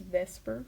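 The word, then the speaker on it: VSEPR: And then we're going to use something called the veilent shell electron pair repulsion theory or it's pronounced vesper for short just using the first letters vesper theory and that's going to help us determine the shape.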